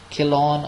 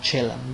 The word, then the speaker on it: Chillon: The Prisoner of Chillon or Chillon, both the pronunciations are right, and we see it is a long narrative poem, 392 lines.